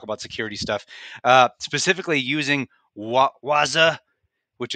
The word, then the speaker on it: Wazuh: security stuff, specifically using Wazuh, which it's really tempting not to go Wazuh like the obnoxious commercials. So I'm going to try not to do that. I think it's just pronounced Wazuh, and talk about using